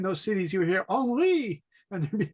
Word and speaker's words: Henri: Henri. Henri.